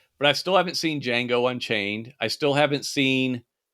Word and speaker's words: Django: you know yeah i ain't just watched uh jenga oh django what how you say it oh yeah there's